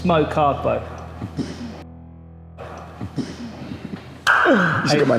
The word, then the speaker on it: Kargbo: It's Mokargbo.